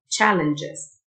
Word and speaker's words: challenges: CH تنطق تشه Challenges.